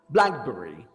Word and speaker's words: blackberry: words and we said if we have a common noun that is made up of two parts like compound like that we stress the first word the first part so we say call singer subway credit card blackberry so if you said